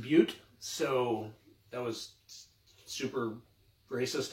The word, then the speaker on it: Butte: And for Black Panther, the beer I chose was all these beautiful black butts. In what's that? It's actually pronounced Butte.